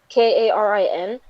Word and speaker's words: Karin: i changed her name i wanted a different pronunciation i wanted karin but it was but then if he but then when i started introducing her to people they started counting her karen i'm like no no i'm changing this name i